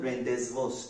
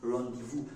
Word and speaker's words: rendezvous: a bit of problem when we come to pronunciation now we have the word it is not Rendezvous it is a French word and in French